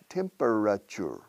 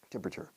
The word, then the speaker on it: temperature: the temperature the temperature temperature four syllables but normally we say three temperature and the British temperature maybe I exaggerate a